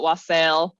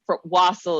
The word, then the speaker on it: wassail: bourbon to it indeed I've heard it pronounced both ways and I'm sure that my pronunciation will vary depending on how high and or drunk I am so um I've I've definitely heard people call it wasel because it's I I I suppose it's wasle is the more correct